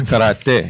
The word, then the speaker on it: karate: Karate. Yeah. Am I pronouncing that wrong? It's karate.